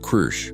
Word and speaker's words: Kru: "This one is called Kru," he pronounced it with a rolling growl that her translator struggled to copy.